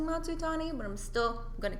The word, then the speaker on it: Matsutani: stage name um no I go by matu Tani but people have a hard time pronouncing matsutani but I'm still going to keep it yeah